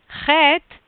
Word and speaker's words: Chet: Chet, modern Israeli pronunciation is doing it like traditionally it's going to be something like in the throat.